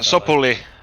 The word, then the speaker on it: Sopuli: Sopuli.